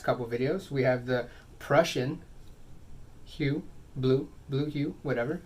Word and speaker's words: Prussian: We have the Prussian hue, blue hue, whatever. I've been mispronouncing it this whole time. I've been calling it Persian hue, blue hue, whatever.